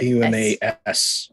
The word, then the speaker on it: Dumas: It's an S at the end. No R. Dumas. Oh, cool. D-U-M-A-S. Dumas, yeah. I thought it was Gotcha. pronounced Dumas. It is. Yeah. Oh, okay. But spelling I it was is an S on the end.